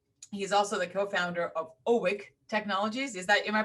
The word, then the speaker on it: OWiC: He's also the co-founder of OWiC Technologies. Am I pronouncing it correctly?